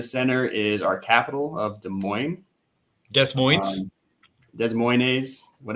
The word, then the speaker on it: Des Moines: right in the center is our capital of Des Moines whatever you want to call it uh the proper pronunciation is Des Moines even though it looks like Des Moines um